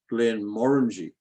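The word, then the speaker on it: Glenmorangie: say in this country we would say Glenn moranji that's how we would pronounce it I don't know how you pronounce it but I was told by Scots several of them that the pronunciation there is Glenn moringi more and yeah that's so that's the bit that gets emphasized in fact on that earlier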